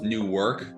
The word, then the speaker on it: Newark: It's pronounced Newark. The New Jersey fuckers probably pronounce it a different way. It's very similar to New York, but people know the difference in Jersey when you say Newark and New York.